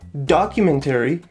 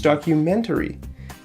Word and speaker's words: documentary: It's not documentary, it's documentary. If you say documentary, people will understand you, but it's not going to sound natural, okay?